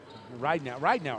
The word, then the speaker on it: Ridenour: Ridenour, I believe is the way we're pronouncing that, right? Yeah, so make sure Ridenour, yeah. Ridenour. Long eye, Moose.